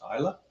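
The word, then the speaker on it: Islay: it looks like it's slave Journey but it's pronounced Isla Chad Jeremy got it on finally so green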